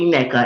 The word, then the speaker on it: Nneka: herself NECA or whatever her name is actually NECA everybody knows that that's how to pronounce the name so I don't know what